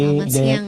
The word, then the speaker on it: selamat siang: Salamat sayang in Indonesia. Yeah. Good. Yeah. Okay. Selamat siang.